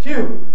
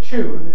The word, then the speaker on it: tune: this is the word tune, where it's a stress syllable. Now, for someone of my generation and background, to say tune is very vulgar. Oh, not right at all. Somebody like me says tune.